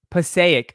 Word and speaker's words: Passaic: your end where's my guy bane he's downstairs pasa like passaic huh passaic oh passaic passaic look at that passaic why